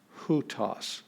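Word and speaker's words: οὗτος: here in this is got a rough breathing mark so we're gonna have that h sound so this will be hutas who toss so it's the but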